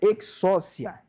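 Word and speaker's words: ἐξουσία: É exousia. Exousia. Essa é a pronúncia.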